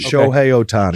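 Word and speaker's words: Shohei Ohtani: I don't want to mispronounce it. Show Otani.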